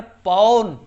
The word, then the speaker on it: पवन: ठीक है, जैसे कहा गया कि जो है पवन में कौन संधि है, तो आप ध्यान से देखिए उच्चारण पौन, पौन यानी औ निकल के आ रहा है।